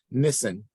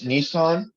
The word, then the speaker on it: Nissan: Nissen. Did I say it correctly, Nissen? Actually, it's Nissan, like the car.